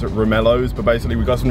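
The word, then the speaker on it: Romaleos: to pronounce this word I think it's roomy Leo's some people say it's room ellos but basically we got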